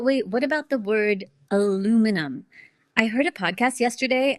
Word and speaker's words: aluminum: Americans say it with four syllables.